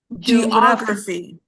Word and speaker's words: geography: Uh, can you repeat geography? So, the stress is in the O.